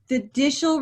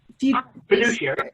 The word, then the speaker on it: fiduciary: You have a, Ira, correct me if I say this wrong, fiducial responsibility. Do I say it right? Fiducial? I got you muted. Yeah, you know what it is. Fiduciary, but close.